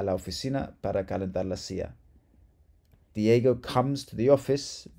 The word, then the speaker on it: silla: And then la silla means the chair or the seat. And in Argentina or Uruguay, la silla, the double L is pronounced sha, sha.